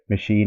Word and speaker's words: machine: all these words: merchant, machine, and mechanic, because these are all the familiar words. You know, the here CH is giving three variations: k, ch, and sha.